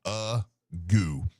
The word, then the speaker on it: Agoo: Did you listen to the pronunciation bar? No, but I looked at it and it says Agoo.